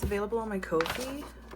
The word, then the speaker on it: Ko-fi: And yeah, it's available on my Ko-fi. Coffee? I don't know how to say it. Coffee. Ko-fi. Starts with K.